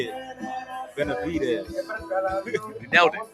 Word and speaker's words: Benavides: Benavides.